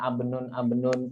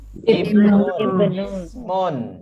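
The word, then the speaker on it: ابن: Jadi kemarin banyak yang salah bacanya abnun, asmun, itu salah Bu ya. Yang benar apa? Ibnun.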